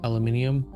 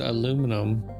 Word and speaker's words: aluminum: The crust is mainly composed of aluminium. Actually, I'm just pronouncing things wrong all day long, aren't I? I know. Well, I pronounce it aluminum, but every now and again, I'll let it slip.